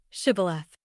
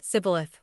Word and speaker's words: Shibboleth: If he said, "No," then they would say to him, "Just say, Shibboleth." But he said, Sibboleth, for he was not prepared to pronounce it correctly.